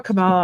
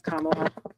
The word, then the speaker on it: Kamala: I always call her Camala. I think I'm saying it wrong. I think it's Kamala. Yeah. Rhymes with Mamala.